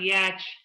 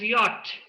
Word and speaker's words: yacht: heard many facilitators yeah it is not yet it is a dutch word the pronunciation is yacht so what is my